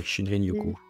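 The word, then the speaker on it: shinrin-yoku: ont gardé avec le shinrinoku si je le prononce correctement tout à fait shinrinokou la pratique des bains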